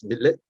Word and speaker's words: Mitleid: And so to Schopenhauer, compassion, which is in German is pronounced as Mitleid, which stands for suffering with, it's the basis of morality.